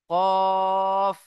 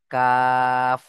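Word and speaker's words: ك: কফ। আর কাফ কোত্থেকে উচ্চারণ হয়? জীবের গোড়া হতে একটু আগে এসে। তার বরাবর উপরের তালুর সাথে লাগিয়ে উচ্চারণ হয় কাফ।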